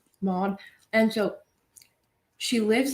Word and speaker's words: Maud: rose okay so basically her name's maud is that how you pronounce mod m-a-u-d mod and so she lives